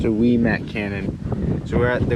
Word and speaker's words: Ouimet: This whole time we thought it was called Ouimet Canyon, but after reading this, it says it's pronounced Ouimet Canyon.